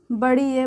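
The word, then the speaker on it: ے: ये बड़ी ये है, इसका भी उच्चारण य होता है, लेकिन इसे बड़ी ये बोलते हैं।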